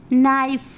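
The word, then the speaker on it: knife: नाइफ, देखिए नाइफ, देखिए अगर के नहीं रहता तब भी हम इसको नाइफ पढ़ते, के है तब भी हम इसको नाइफ पढ़ रहे हैं, क्योंकि हम के को साइलेंट कर दिए हैं, क्योंकि हमारे यहाँ पे वॉवेल है एन के बाद, तो हमने पढ़ा नाइफ।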